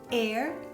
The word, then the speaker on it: heir: Ci sono solo 5 eccezioni in inglese di parole che iniziano con la H dove la H è muta e sono our, allora, honest, honor, heir and heiress e i loro derivati.